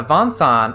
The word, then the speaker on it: Vincent: oh it's vincent dabul but the von son is supposed to like a french pronunciation of vincent like with uh the kind of nasal consonants becomes bansan in japanese compare that to final